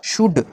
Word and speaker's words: should: फिर है SHOULD, इसे हम शुल्ड नहीं पढ़ते, इसमें एल को नहीं पढ़ा जाता, एल यहाँ पर साइलेंट रहता है, इसलिए एल को छोड़ करके हम इसे शुड पढ़ते हैं, शुड, एटसेट्रा।